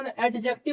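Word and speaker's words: adjective: तो noun, pronoun, verb, एडजेक्टिव इसको एडजेक्टिव बोलते हैं। यहां पर डी साइलेंट है।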